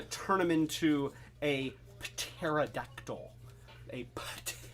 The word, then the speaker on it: pterodactyl: turn them into a pterodactyl a pterodactyl uh i'm over enunciating the p it's a silent p and uh you know